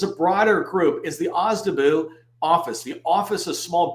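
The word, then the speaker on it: OSDBU: broader group is the ozabu office the office of small business uh small disadvantaged business utilization it's pronounced ozabu um and I put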